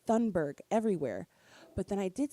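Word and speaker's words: Thunberg: am I crazy because I've been saying Greta Thornburg this whole time and I've just been saying it wrong and so I went to Google like her name and it's thundberg everywhere but then I did see one thing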